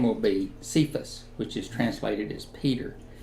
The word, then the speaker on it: Cephas: Greek should be pronounced kephus because it's a transliteration it's not a translation so they should sound similar the Gospel of John